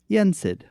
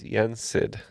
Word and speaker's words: Yen Sid: We're going to lock in with Yensid. Yep, it's Yensid.